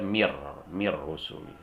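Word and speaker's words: مِن رُّسُل: Begitu juga dengan nun mati ketemu ra, dibaca mir rusul, dan tidak boleh didengungkan.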